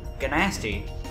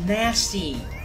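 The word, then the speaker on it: Gnasty: Guh-Nasty. It's nasty. The first damn G is silent.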